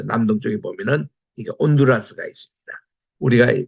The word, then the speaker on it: 온두라스: 쪽에 보면은 아 저 남동 쪽에 보면은 이게 온두라스가 있습니다 우리가 발음할 때는 발음을 안 해요 그냥 온두라스 아고